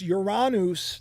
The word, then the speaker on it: Uranus: Uranus is a planet, which by the way, Uranus is why I got it. Remember, as a joke because I thought it was funny. I always laughed. Uranus is a planet, but it's Uranus. That's the way you pronounce it.